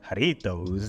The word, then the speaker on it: Jarritos: Let me pronounce that right. Jarritos dunks. Yes, I can roll my R's.